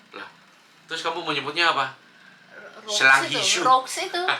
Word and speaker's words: roux: Roux, duxelles, beige. Oh, aku pernah Rhubarb. bikin. Lah, terus kamu menyebutnya apa? Roux Selanghishu. itu. Oh, bacanya roux ya? Iya dong, dari Prancis. Oh.